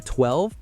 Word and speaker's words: 12: The Avatar 12, pronounced 1-2, is a grand coupe that looks like it rolled off the set of Blade Runner.